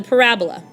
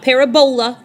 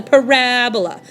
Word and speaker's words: parabola: That is a parabola. It's not parabola, it's not Ebola, it's not a disease, it's a parabola. So please make sure you accent the correct syllable, parabola.